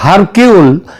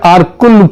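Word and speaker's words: Hercule: Agatha Christie এবং তার গোয়েন্দা আরকুল পোয়ারো, এটা যদিও ওই উচ্চারণে এটা হয় হারকিউল, কিন্তু অ্যাকচুয়ালি উচ্চারণটা হচ্ছে আরকুল পোয়ারো।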